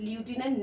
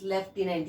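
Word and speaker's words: lieutenant: में आ रहा होगा, that is ल्यूटिनेंट. No, exactly, this is लेफ्टिनेंट. यस, जो जनरल जो रैंक होती है वो शब्द है ये. तो दिमाग में आज के बाद आप रखें ल्यूटिनेंट, लेकिन इसको प्रोनाउंस करें लेफ्टिनेंट.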